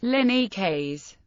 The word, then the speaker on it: Linux: To demonstrate how the word Linux should be pronounced, Torvalds included an audio guide with the kernel source code. Another variant of pronunciation is Linux, Linux.